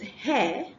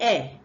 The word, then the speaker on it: hair: The next one is hair and not air.